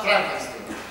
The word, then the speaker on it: Frankenstein: per il Dottor Frankenstein si legge Frankenstein il mio nome si pronuncia Frankenstein se lo dice lei